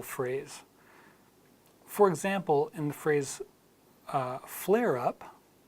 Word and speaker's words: flare up: for example and phrase flare up you can say flare as flare and then together as flare up flare up so the British would insert the are in there the Americans already have the are